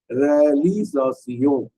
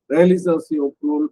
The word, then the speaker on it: réalisation: l'accomplissement de toutes les impossibilités transformées en divine réalisation.